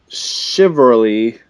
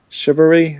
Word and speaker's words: chivalry: saw a game called shiver Lea I can't pronounce the word it's chivalry chivalry chivalry several yeah